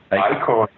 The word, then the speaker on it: Eichhorn: Is that how you pronounce his last name? Eichhorn.